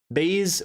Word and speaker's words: Bayes: let's get into this baze with silent e so baze baze david bayes heck